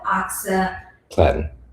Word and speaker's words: oxaliplatin: And some of the most common chemotherapy medications, we were told about one of them called oxaliplatin.